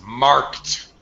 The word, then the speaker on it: marked: It's marked on the calendar. Pronunciation, marked. Word, Mark. yeah, verbs that end with K has a T pronunciation with the past tense, ed, marked.